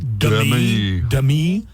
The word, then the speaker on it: Demi: It's like when Demi Moore told everybody my name is actually pronounced Demi.